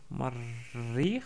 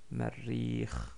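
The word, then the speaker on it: مرّيخ: Mais comme il y a une shadda sur le Ra, donc Marrikh, donc il y a un doublement de Ra, la kasra s'écrit au-dessous, en dessous du shadda, et non pas ici.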